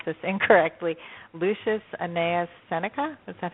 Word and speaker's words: Lucius Annaeus Seneca: And that's by, I'm going to probably pronounce this incorrectly, Lucius Annaeus Seneca.